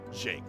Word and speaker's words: Jake: But the first one, think of the middle sound of fusion. That j sound, it's shake. Kind of like shake, but just Jake.